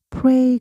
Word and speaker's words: pray: 기도하다 할 땐 pray. ay가 ae예요. 그래서 pray가 되는데 기도하다가 되면 에로 나와요. 그래서 prayer prayer 돼요.